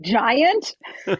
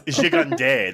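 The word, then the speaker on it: Gigandet: I'm like, Giant? No, it's Gigande. That's the French way.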